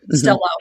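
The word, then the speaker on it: Stelo: Am I pronouncing that right? Is it Stello? Yeah, that's my understanding. Stello.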